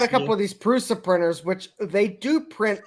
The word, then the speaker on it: Prusa: It's Prusa.